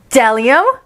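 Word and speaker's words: bdellium: b is for what dellium that's right b is for dellium like that without anyone knows what dalium is but it's the only word dominant of the beginning with a silent b oh boy oh boy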